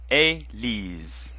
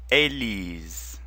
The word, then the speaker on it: Élise: Ellie's Ellie's is a female name and it's pronounced a Li's repeat after me Ellie's Ellie's Ellie's in this song we're gonna hear the